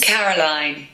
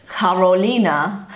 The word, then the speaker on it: Caroline: So I pronounce it Caroline. The correct British pronunciation is Caroline. So the German pronunciation of Caroline is? Caroline. Carolina. Hopefully I'm pronouncing that kind of right.